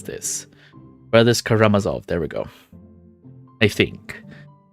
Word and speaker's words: Karamazov: the brothers Karam Kama I know how to pronounce this Brothers karamazov there we go I think her teacher tells